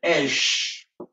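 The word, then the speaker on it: אש: Aleph na Shin eza prononcé Esh.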